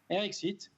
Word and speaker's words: RX Eat: d'être là alors déjà est ce que je le prononce bien pardon eric site eric site parfait magnifique on est